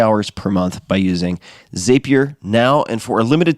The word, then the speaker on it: Zapier: It's pronounced Zapier, like happier.